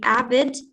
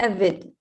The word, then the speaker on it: avid: Okay, we have two pronunciation of avid because we have a British and English accent. So we can say avid and avid. Both are right to say.